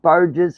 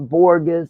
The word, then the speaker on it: Burgess: I found out about Burgess not borgus like people's pronouncing his name is Burgess um I'm going to